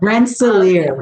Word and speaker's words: Rensselaer: She holds a Bachelor's of Science and Master's of Science degree in communication from I cannot even pronounce that. I'm going to have you do that. Rensselaer, yes.